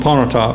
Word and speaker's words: Pontotoc: I can't pronounce it. I'm from Pontotoc, Mississippi. Pontotoc.